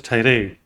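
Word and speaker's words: tirade: someone Tyro okay it's pronounced as Tyro long angry speech of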